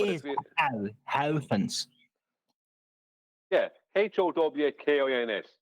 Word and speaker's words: Huygens: Yeah, Howkins. Just think of it that way. Hawkins. And that'll sound Dutch.